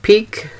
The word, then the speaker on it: Gelato Pique: hobie nichi player or gelato i think that's pronounced peak p-i-q-u-e fan then you already know